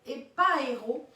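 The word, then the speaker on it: ἐπαίρω: Sur il fut élevé, ça vient du grec épaéro, ça s'écrit E-P-A-I-R-O, épaéro, c'est vraiment dans le sens où les pieds ont quitté le sol.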